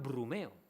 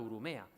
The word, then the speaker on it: Urumea: Bichia Ereau, Ortelio y Medina le llaman Brumeo, por no acertar la pronunciación del nombre vascongado Urumea, que quiere decir agua delgada o mansa.